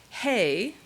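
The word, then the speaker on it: ה: Hey, which rhymes with say, which we transliterate as H.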